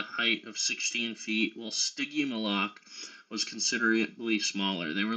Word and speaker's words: Stygimoloch: Digimilok? I've never heard that, Brent. Is that are there multiple ramming dinosaurs? Like, are there multiple dinosaurs that look like that? Stygimoloch. Thank you for doing that phonetically.